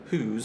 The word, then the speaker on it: Howes: I think Emily, who's on our team. Name looks like Howes, it's pronounced Who's.